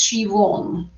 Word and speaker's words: Siobhan: It's Siobhan, Irish.